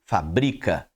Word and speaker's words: fabrica: vai falará fábrica aí quando você olha pra segunda palavra e não vê o acento você dirá o quê fabrica ele fabrica automóveis correto porque a indicação